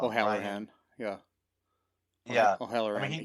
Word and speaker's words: O'Halloran: Brian O'Hare. I always say his name wrong. O'Halloran.